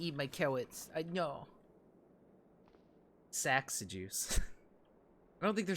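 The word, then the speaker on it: Saxe: Sax with an E. So, like a silent E at the end.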